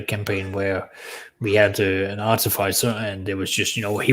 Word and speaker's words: artificer: Artificer. Three completely different pronunciations of that word.